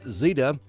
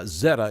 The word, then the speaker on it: Zeta: eventually to the northeast as zeta or zetta tomato tomato uh zetta is the the correct pronunciation as zetta makes um